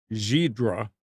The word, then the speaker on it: Ghidra: required expensive software so now the release of zebra yes that's how it's pronounced its GHI Dra the NSA tool has